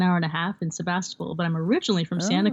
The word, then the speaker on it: Sebastopol: I was like Sebastian so how do you say it it's a Russian name Russian immigrants came and they they named it we have a sister sister stayed over in the Russian homelands Sebastopol Sebastopol do you know what